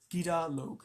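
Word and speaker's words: Gidur-log: Did I pronounce that right? Gida Log, yes.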